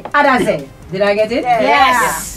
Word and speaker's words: Adahzeh: So I'm going to try and get the name of the group pronounced correctly. Adahzeh.